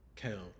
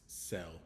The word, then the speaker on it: cell: So it's not kel, it's cell because of that E there.